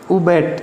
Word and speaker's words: abate: क्या बोलेंगे इसको? उबैट या UHBATE, इसकी प्रोनाउंसिएशन है।